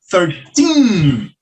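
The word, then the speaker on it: thirteen: Ao contrário do teen, que a gente viu que a sílaba tônica é o final. Então, ficaria 13, forte no final.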